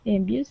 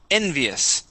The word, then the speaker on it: envious: So we have envious. So stress at the very beginning.